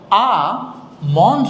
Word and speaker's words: almond: check করুন প্রথম যে শব্দটা কাঠ বাদাম এটা উচ্চারণ হচ্ছে আম মানে এখানে একটা ভুল করি আমরা সেটা হচ্ছে আ মন্ড না ইভেঞ্জারের আগে কিছুটা জানতেন আম আবার বলি